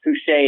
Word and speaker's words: Foucher: So it looks like Boucher, but it's pronounced Foucher, and the R is silent because it's French.